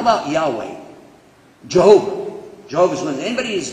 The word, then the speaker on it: Yahweh: So, Jehovah is definitely an English pronunciation of the word Yahweh. It's Yahweh without any vowels. Non-Jews added vowels and said, well, it's probably Yehovah. But it's Yahweh.